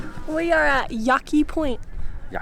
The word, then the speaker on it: Yaki: We are at Yaki Point.